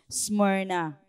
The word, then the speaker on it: Smyrna: So ganun pala yung pronunciation on Smyrna, okay?